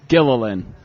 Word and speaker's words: Gillian: It's Gilligan with an L instead of a G. Oh, yeah. Yeah, I could have 3-hour tour stuff. Yeah. Okay, so Gillian.